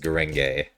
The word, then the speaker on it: Gurenge: Demon Slayer opening, which I think is technically pronounced Gurenge, which is what I was told by someone who speaks light Japanese. But that sounds dumb, so I'm gonna say Gurenge, and if I'm wrong,